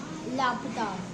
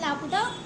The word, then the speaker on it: Laputa: It is supposed to be island in Laputa, not in Laputa.